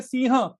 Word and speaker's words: सिंह: अभी जैसे सिंह, इसको हम बोलते हैं हिंदी में सिंह और स्पेलिंग करते हैं SINGH, वो जी का क्या काम है भाई। और इसके कारण हिंदी बहुत सारे लोग सिंह सिंह कहना शुरू कर